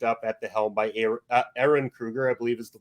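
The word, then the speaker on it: Ehren Kruger: 1 and 2 originally written by Kevin Williamson, with 3 being picked up at the helm by Aaron Kruger, I believe is the pronunciation of his name.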